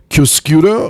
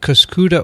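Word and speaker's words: Cuscuta: organism is called c-u-s-c-u-t-a pronounced cuscuda or cascoda or kaskara i would pronounce it kuskuda or if i were italian kosciutta but it's probably not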